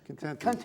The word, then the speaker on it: Contente: Is that how you pronounce it? Contente.